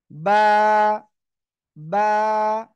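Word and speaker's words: ب: আমরা শিখবো বা অক্ষরটা বা অক্ষরটা কোন জায়গা থেকে উচ্চারণ হবে এই যে দেখতে পাচ্ছেন দুই ঠোঁট এই দুই ঠোঁট দুই ঠোঁটের ভিজা অংশ থেকে দুই ঠোঁটের ভিজা অংশ থেকে সিম্পল দুই ঠোঁট বন্ধ করেন বন্ধ করে উচ্চারণ করতে হবে বা বা এক আলিফ টান হবে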